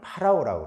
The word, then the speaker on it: 바로: 우리는 바로 왕이라고 그러는데 이 바로는 이집트 왕을 파라오라고 그래요. 파라오. 그러니까 왕이라는 뜻입니다. 파라오. 이 파라오를 우리 이 성경에서는 바로라고 발음을 하는 거예요.